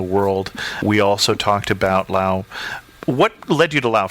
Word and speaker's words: Laos: This time we wanted to talk about Laos, or Laos, for those of us who haven't been there and don't know not to pronounce the S.